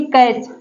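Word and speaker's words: catch: देखिए T silent है देखिए कैच कैच का मतलब होता है पकड़ना यहां पर देखिए सी eighty C एच C eighty C एच यहां पर टी सीच का कॉमिनेशन है यहां पर देखिए टी साइलेंट है यहां पर देखिए ईच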